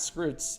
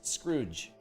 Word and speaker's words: Scrooge: lot of fun yeah screws it's not scrots it's Scrooge because TZ or letters t